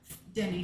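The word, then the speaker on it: Dene: a Navajo people but they call themselves denne and they are are related they're part of the same Denny family even though it's spelled differently it is related to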